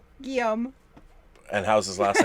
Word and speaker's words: Guillaume: Now, are you going to pronounce his name? Guillaume. And how's his last name spelled? Go ahead. I love when you say it. Guillaume.